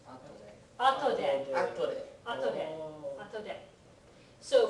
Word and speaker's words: 後で: After, and it's pronounced atode.